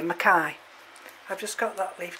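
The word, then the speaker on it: mackayi: is zygo petalum makai a lot of people say mckay because it's m c k a y but i think we pronounce it here makai i've just got that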